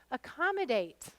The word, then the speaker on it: accommodate: some stress to them which ones are unstressed A and M yep so the first